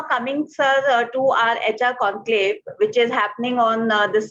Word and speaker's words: Conqlave: So we pronounced it as conclave, and we spelled it as CONQLAVE.